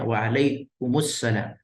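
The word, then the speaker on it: وعليكم السلام: Untuk bagian kedua di sini cara bacanya adalah waalaikumu faalaikumussalam. Mimnya berharakat damah karena disambung ke huruf mati alif lam. Di sini ada alif lam yang dianggap huruf mati. Maka mim yang mati yang sukun diganti sukunnya menjadi dammah. Alaikumussalam asalnya alaikum.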